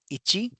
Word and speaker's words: ichi: 1 is ichi.